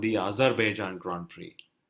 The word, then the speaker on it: Azerbaijan: They've included a Grand Prix called the Azerbaijan Grand Prix. Correct. That is the right pronunciation, Kunal.